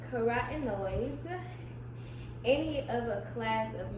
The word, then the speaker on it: carotenoids: Dark green or orange vegetables are especially helpful because they contain keratenoids. I don't know if I pronounced that properly. Carotenoids.